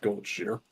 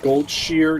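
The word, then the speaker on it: Goldshire: If it's officially said that in that type of media, it is it is Goldshshire, which honestly the the fan pronunciation definitely rolls off the tongue better cuz Goldshshire just sounds nice. Gold shear just listen I think it's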